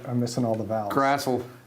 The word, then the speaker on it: Grassl: Grassl. Yes. Rhymes with hassle, but he's not a hassle. And there's no E.